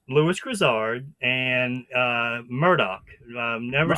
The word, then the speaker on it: Murdaugh: I've this entire time, and it's Murdaugh, like D-O-C-K, Murdaugh, and I got that right?